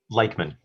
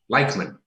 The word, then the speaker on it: Leichtman: And I haven't asked you actually, what is the right pronunciation of your surname? Leichtman. Leichtman. It is Eastern European.